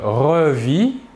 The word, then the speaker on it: revis: Je revis, tu revis, il ou elle ou on revit. Toujours la même chose, le S et le T final de la terminaison ne se prononcent pas mais s'écrivent.